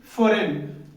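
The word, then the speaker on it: foreign: Silent form में होगा। तो यहां पे हम क्या पढ़ेंगे? फॉरेन।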